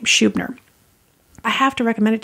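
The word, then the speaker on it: Schubiner: Howard Shubh nur that's a say his name Shoob nur I have to recommend it to you because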